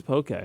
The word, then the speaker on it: poke: don't know you know it is pokey it is okay yeah okay nice sure it's funny because you wrote a whole article about it but you don't know how to pronounce it but it doesn't have the actual like e thing you know what i mean it's it is spelled p-o-k-e just flat no accent mark so the accent is just to make it pronounced that's what happened it's